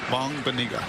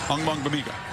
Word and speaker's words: Ogbongbemiga: Maybe your favorite name to pronounce this season? Once you get it down, it's a fun one. Ogbongbemiga. Ogbongbemiga.